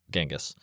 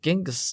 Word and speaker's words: Chingis: Chingis is the Mongolian pronunciation of Genghis. Yeah, Genghis is the westernized version of his name.